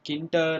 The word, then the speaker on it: Tkinter: is all about the TK inter module in Python. Oh wait, it's not so tough to pronounce. Called it may be pronounced as Tkinter or TK inter or Tkinter. That's your wish, but that's a module